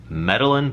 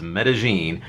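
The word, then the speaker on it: Medellín: new video metagene it actually looks like it's pronounced medalin but it's not it's metagene it's a city in Colombia is what metagene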